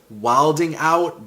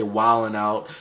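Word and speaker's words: Wild 'N Out: It's spelled Wilding Out, but I'm pretty sure they say Wildin' Out.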